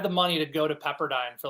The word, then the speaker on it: Pepperdine: I pronounce it correctly that's right I mispronounced them as peppardine uh especially when I watch these late game college basketball I have it on mute so I never know how to pronounce some of these schools so noted it is Pepperdine Skippy Byron's fortnite battle